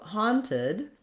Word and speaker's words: haunted: those are pronounced so haunted to go through the pronunciation of haunted we have first syllable stress so the han syllable is long and has the clear vowel and then the second